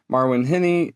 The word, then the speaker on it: Marwen Heni: And then we also have a special guest, Marwin Henny.